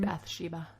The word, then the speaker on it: Bathsheba: i have is kind of the story about bashiba is that how you say her name bathsheba bathsheba sherman so she was born that's sheba